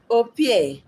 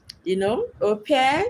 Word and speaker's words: au pair: development researcher, nanny, or au pair. Au pair is like from French word. If I want to pronounce it in French, it's au pair. But here you say au pair.